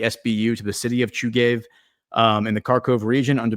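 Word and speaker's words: Chuhuiv: a hospital in the town of Chugay, I think is how you pronounce it.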